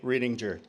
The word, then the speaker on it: Riedinger: Pendleton, Colonel Charles Clay Riedinger. Hard G.